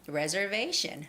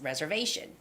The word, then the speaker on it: reservation: to check on is reservation reservation reservation vey has the stress reservation okay uh yeah i